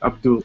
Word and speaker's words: Abdul: yeah I think uh the shortest is to pronounce it like Abdul ABD d l well